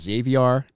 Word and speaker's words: Xaviar: Now, his name is spelled uniquely, and I've heard his name pronounced as Xaviar, and it also pronounced as Xavier, so I'm going to call him Xavier.